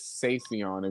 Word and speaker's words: Savion: oh by the way my name is Savion if you didn't know how to like pronounce it you ever like reach